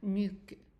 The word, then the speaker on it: nuque: Okay, so remember we said that the QUE at the end of a word, except for quelque, presque, this E, the U and the E are silent. Oh. Okay, so, and the U is pronounced in French U. Oh, Not E, but U. So it's kind of like pronouncing an E, but putting your lips together.